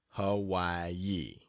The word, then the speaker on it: Hawaii: again and then to the island of Hawaii pronounced Hawaii to see the greatest active volcano in the